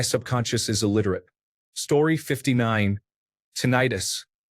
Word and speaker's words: tinnitus: Tinnitus. The first part of the word rhymes with minute, but I incorrectly pronounced it so that the last part of the word rhymed with arthritis.